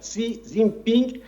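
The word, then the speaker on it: 习近平: Plus encore, elle est en train de valoriser si Zimping puisque j'étais en Chine, je prononce exactement comme les Chinois le voilà si Zin Ping et c'est mon ami, c'est un grand homme et cetera.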